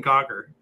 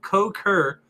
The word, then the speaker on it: Cukor: George Cukor fur ah and I was saying cocker Larry sorry George he said I'm sorry but I have to correct you it's pronounced coke her only reason I say